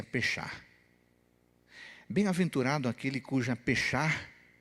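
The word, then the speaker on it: פשע: O salmista aqui usou uma palavra em hebraico que se pronuncia pechar.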